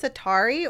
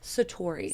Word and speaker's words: Satori: know the journey to the studio is it pronounced satari or Satori Satori okay it's it's nice that you even